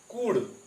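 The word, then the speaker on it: could: सबसे पहले शैल, will, can, कुड। कुल्ड नहीं, एल साइलेंट है यहां पे।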